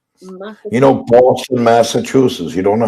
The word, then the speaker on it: Massachusetts: you're a race for my life i can't pronounce massachus chutes massachusetts you don't know how to say boston massachusetts